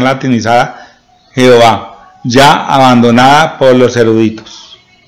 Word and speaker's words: Jehová: Y se lee Jehová. Como está acá, ¿por qué se pronuncia con E? Porque la A es una semivocal y coge la primera parte de la semivocal para poner E.